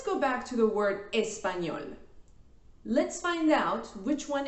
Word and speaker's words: español: If you think the correct answer is numero t, you are correct. The stress syllable is at the end.